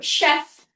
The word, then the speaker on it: chef: Most common example there is more chef. Chef. These are French words.